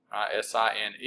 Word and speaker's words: sine: So the first trig ratio is sine, S-I-N-E, you pronounce that sine, and when we talk about trig ratios, it's only on right triangles.